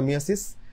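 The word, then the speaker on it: meiosis: এবং আজকে পড়া হবে মিয়োসিস এবং এটাকে আসলে আগে মিয়োসিস বলা হতো এখন আসলে এটাকে মায়োসিস বলা হয় আমি উচ্চারণটা এখনো ঠিক করতে পারি নাই আমার মিয়োসিস চলে আসে বানানটা একটু ভালোমতো খেয়াল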